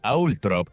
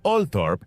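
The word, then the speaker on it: Althorp: La pronunciación Atrop es la preferida de la familia Spencer, aunque Olthorp es una alternativa más común.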